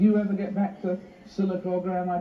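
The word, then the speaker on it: Sylacauga: I mean, do you ever get back to Silicaga? Am I pronouncing it right? That's right, Silicaga.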